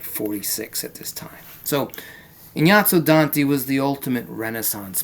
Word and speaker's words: Ignazio: And then we have Inyato. That's how you say it. Inyato. Even though in English it doesn't sound like that, right? But the proper way is Inyato. Inyatso Danti.